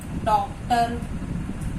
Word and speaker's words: डॉक्टर: ठीक है, जब हम इसका उच्चारण करते हैं तो उच्चारण करते समय ओ की आवाज आती है। डॉक्टर, वास्तव में ओ की मात्रा नहीं है लेकिन आवाज ओ की आती है, तो ये आगत ध्वनि है।